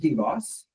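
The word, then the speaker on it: DBOS: engineer at deoss how do you say it deboss right deoss it is pronounced deboss um working on their mission to dramatically simplify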